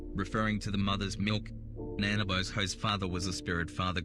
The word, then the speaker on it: Nanabozho: Nanabozho is pronounced as Nanabozho in the first person. In the third person, this name is pronounced Wanabozho. In the Null person, this name is pronounced Manabozho.